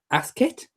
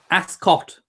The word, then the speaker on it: Ascot: hi Elliot one question isn't Ascot pronounced ask it no Ascot ass ass as in and then caught as in a baby's caught Ascot there you go everyone saved apps caught Ascot put them together you get Ascot you can't yeah that's